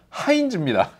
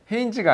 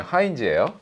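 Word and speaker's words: Heinz: 이렇게 어, 근데 여러분들 케첩은요 하인즈입니다. 헤인지가 아니에요. 하인지예요. 예, 요거는 이제 해인지라고 읽습니다.이 생각보다 굉장히 유서가 깊은 브랜드예요.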